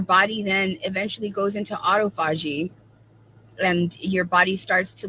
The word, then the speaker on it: autophagy: here we go let me see it's gonna autophagy that's how you say autophagy autophagy not Alto